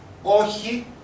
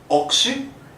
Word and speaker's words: όχι: We have already seen it, and that was the president joke here, which was όχι, no, and not oxy.